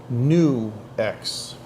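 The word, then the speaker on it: NUX: but anyway yeah and this is pronounced new X but you spell it nuux and the app is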